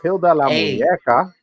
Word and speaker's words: Hilda La Muñeca: Oh, this is Hilda La Muñeca.